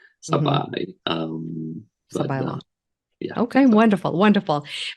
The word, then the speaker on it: Sabaj: so at the end it's j it's like saai um yeah okay wonderful wonderful but uh so